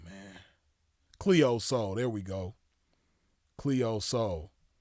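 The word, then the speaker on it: Cleo Sol: It's Cleo Soul, but Soul is spelled like sun in Spanish, SOL.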